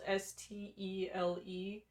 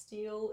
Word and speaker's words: stele: It's spelled S-T-E-L-E. So I thought for a very long time it was pronounced steel. It is not pronounced steel, it is stele.